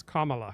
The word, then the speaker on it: Kamala: Did I do it right or not? Not really. It's Kamala. Okay. Comma.